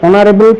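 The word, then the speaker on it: honourable: এরপরে অনারেবল person. এখানেও এইচ এর উচ্চারণ হয়নি।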